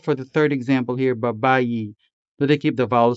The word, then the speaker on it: Babayi: Babayi is sometimes spelled with the letter I and sometimes with the letter E, but is always sounded with the native Hiligaynon vowel E. Babayi.